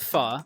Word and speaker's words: pho: And make sure you pronounce it pho, and they will be impressed.